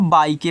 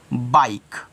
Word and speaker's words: bike: देखो कैसे, एग्जाम्पल में यहाँ पे लिखा है BIKE, तो क्या इसको आप बाई के पढ़ोगे? नहीं, क्योंकि लास्ट में ई है, ई रहेगा साइलेंट। हम सिर्फ पढ़ेंगे बाइक। क्या पढ़ेंगे? बाइक पढ़ेंगे।